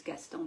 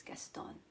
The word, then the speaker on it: Gaston: His name is Gaston. In French it's Gaston, but he's Argentinian, so it's Gaston, right?